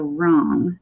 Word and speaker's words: wrong: So O-N-G is that ong sound, and we have the R at the beginning that says r, so wrong, and W is silent there.